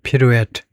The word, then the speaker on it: pirouette: 이게 프랑스어입니다. 그래서 프랑스어식으로 발음을 하면 피루엣이에요. pirouette. hop and pirouette.